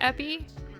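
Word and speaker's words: épée: It's pronounced epi.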